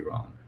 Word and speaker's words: Rong: Instant handle is just A and then Andy Rong. And Rong is spelled R-O-N-G. R-O-N-G, yes. Absolutely. Wrong without the W.